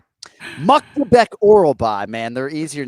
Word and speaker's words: Myktybek Orolbai: My name is Miktabek Orolbai. My name is Miktabek Orolbai. Muktabek. Ah, interesting. He could have said his name 30 times in the time it took Nacho to say his name. Muktabek Orolbai, man.